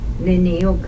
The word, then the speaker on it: nini: Z-A-A, za, G-A, zaga, G-W-A-N, D-A-G-O, dago, zaguan dago, niniuk, N-I-N-I, nini, that's a man, men, nini, N-I-N-I.